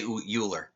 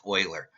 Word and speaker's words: Euler: but I always say uler because look at it it looks like it should be pronounced uler but it's really pronounced Oiler and I was corrected